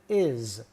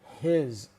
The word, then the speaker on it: his: Anytime we use his in the middle of a sentence, we pronounce it is, not his.